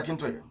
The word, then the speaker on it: Akintoye: I want to pronounce it correct. Professor Akintoye.